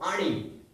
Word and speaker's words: आणि: So ani. Ani. Okay. Ani. Bhayan. So again, this NN is that one.